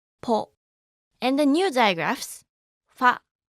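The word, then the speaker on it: ポ: And with a handakten, it will be po, ho, po, ho, po.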